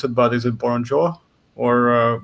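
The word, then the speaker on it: Burrunjor: Wilson, are you familiar with the, I'm not sure how to pronounce it, but is it Boronjo? Or Borneor, I'm not sure. Proper pronunciation. Burunjor? Burunjor.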